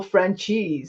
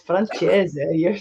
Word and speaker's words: Francese: He always says, "Hi, I'm Michael Franchise." I'm like, dude, it's Francese.